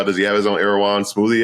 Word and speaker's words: Erewhon: Does he have his own Erewhon smoothie? Is that how you say it?